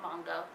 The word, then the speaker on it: manga: It's like it's giving me manga vibes without looking at the manga or manga. It's pronounced manga, Catty.